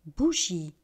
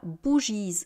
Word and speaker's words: bougies: Et je le répète, on ne prononce pas la marque du pluriel. Bougie, une bougie des bougies. Bougie, une bougie des bougies. Là encore, on ne dit pas bougiese.